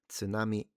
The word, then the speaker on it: tsunami: Technically, we don't have any words that genuinely start with a silent T. However, many English speakers find it difficult to pronounce the consonant sounds t and s together. ts ts See, even I'm struggling. Uh, yeah. tsunami ts It's more of a ts, isn't it?